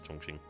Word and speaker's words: Chongqing: I know it says Chongqing, but I'm going to go with the Chinese pronunciation to Chongqing.